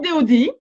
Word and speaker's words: Dodi: Alors je savais pas trop comment l'écrire, hein, comme ça se prononce, Dodi, et je rajoute Kabbale.